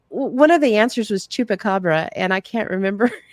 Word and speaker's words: chupacabra: And she goes, "The lady who came with the answer couldn't remember how to pronounce chupacabra, and she said it's something like Koopa Chabre or something like that, or Koopa Hoopa or something like that."